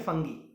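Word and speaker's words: fungi: अगला है फंगाई या फिर फंगी। इसका फंगाई भी प्रोनाउंसिएशन इसका फंगाई कर सकते हो या फिर फंगी, ठीक है।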